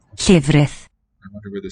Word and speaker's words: llefrith: Llefrith. Llef. Long vowel. Llefrith. Llefrith.